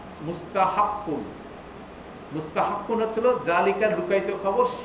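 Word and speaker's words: مستحق: হু, এখানে একটা শব্দ আছে, এটাকে আমি এখানে উচ্চারণ করে লিখে দিছি, মিম সিন তা কহা মুস্তাহাক্কু, মুস্তাহাক্কু হচ্ছিল এলিজেবল ফর ডিজার্ভিং অর কর্তি মুস্তাহাক্কু,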